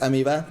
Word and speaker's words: amoeba: It's pronounced amoeba.